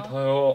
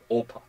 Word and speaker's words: 아파: 배가 아파. 배가 아파요. Oh, my stomach hurts. Not 배가 오파. 배고파. No, I'm not hungry. 배가 아파. My stomach hurts.